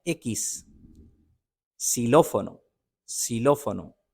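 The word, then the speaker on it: xilófono: कि वाफ एकस एक्स को कहते हैं एकस सिलो फोनो सिलो फोनो ये एक म्यूजिक इंस्ट्रूमेंट है इसको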